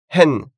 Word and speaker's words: hen: Hen, bizarre, étrange. Ça commence par un H et le H se prononce. Il n'y a pas de H muet en japonais.